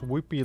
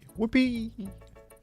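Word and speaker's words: Wooper: Pronounce Whoopee like you would Yippee. Whoopee!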